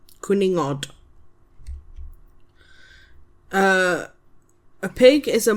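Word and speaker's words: cwningod: C W N I N G O D quuningod.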